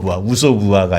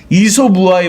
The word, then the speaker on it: 이솝우화: 우소부화가 아니라 이소부화에 보면 박쥐 이야기가 나와요.